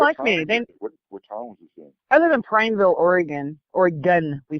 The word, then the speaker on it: Oregon: me think we're talking I live in Prineville Oregon or again we say it again it's not we're gone people it is actually pronounced or again I told the that my us ran there